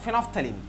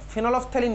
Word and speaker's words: phenolphthalein: অফ ফেনফথ্যালিন, ঠিক আছে, ফেনফথ্যালিন হচ্ছে প্রোনাউন্সিয়েশনটা, ফেনলফথ্যালিন বলে না, ফেনফথ্যালিন।